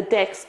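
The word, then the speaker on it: deque: at the top so decks all double-ended cues the documentation says it's pronounced decks so I'm going to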